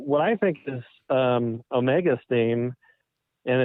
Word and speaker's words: Omega: i get someone saying swank's saying the name wrong it's omega and so i have adopted and i have to think about it before i say it adopted the pronunciation omega which is okay and now i'm seeing people saying rfr gets it wrong every time it's not omega it's omega with two e's here's what here's my